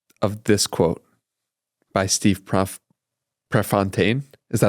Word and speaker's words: Prefontaine: It matters because of this quote by Steve Prefontaine. Is that how you pronounce it?